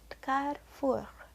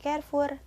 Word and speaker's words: Carrefour: Di Indonesia ini bisa kalian temui di Carrefour ya. Yang benar itu pengucapannya bukan Carrefour tapi Carrefour yang berarti perempatan.